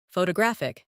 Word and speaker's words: photographic: In English, some words are pronounced with extra emphasis on one part. For example, photograph, photographer, and photographic. The stress moves, and that changes the sound.